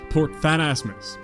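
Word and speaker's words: Port Phasmatys: back and crossing over to cannabis and visiting port fat asmus that is how you say that being confused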